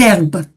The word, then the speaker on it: herbes: Ouais, les haricots, c'est un hache aspiré. Les herbes non. Donc, on fait la liaison.